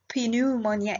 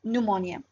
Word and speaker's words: pneumonia: inflammation of the lung by the way the p here is silent it is not pneumonia it is pneumonia so this is one